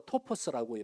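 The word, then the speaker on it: τόπος: 본문에서 틈이란 헬라어로 토포스라고 발음을 하는데 이것은 영역 혹은 기회라고 하는 뜻입니다.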